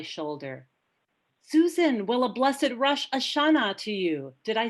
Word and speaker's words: Rosh Hashanah: Susan, will a blessed Rosh Hashanah to you. Did I say that correctly? No, actually it's Rosh with a long O sound, and Hashanah, Rosh means head, Ha means the, and Shana means year.